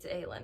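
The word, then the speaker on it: Aelin: And I want to say her name is Selenia, but it's Aylin now.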